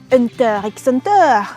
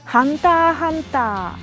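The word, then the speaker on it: ハンター×ハンター: faire un H déjà, on va faire et ensuite le U, il va un petit peu être vers le A. En japonais, tout ce qui est UN, on va le transformer systématiquement en A. On va dire Han. Et ensuite, le ER, comme je vous l'ai expliqué dans la deuxième leçon, ça fait plutôt A allongé. Donc ça fait Hanta. Et donc ce n'est pas Hunter X Hunter, mais c'est Hanta Hanta.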